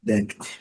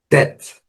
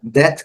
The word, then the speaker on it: debt: É claro que quem não estudou pronúncia vai falar debit, debit. Até porque nós temos a palavra débito, né? Débito. Nada a ver, tá? Nesse caso, a pronúncia aqui obedece esse padrão aqui. Debt.